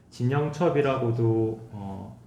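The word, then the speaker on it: 陳榮捷: 이게 광동어로 윙치찬이라고 이제 발음이 되어져서 진영첩이라고도 뭐 한문 그대로 이제 음역하면 그렇게 읽을 수도 있고 중국어로도 그렇게 읽을 수가 있습니다.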